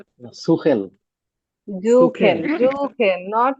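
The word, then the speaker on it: suchen: জুখেন, সুখেন। জুখেন, নট সুখেন। জুখেন। এস এর উচ্চারণ কিরকম হবে? জুখেন। জয়ের মতো।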